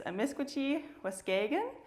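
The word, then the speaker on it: amiskwaciy-wâskahikan: here which is um I say it wrong almost every time but it's emisien um and it's very important to us Canadians to recognize the indigenous peoples on whose land we work.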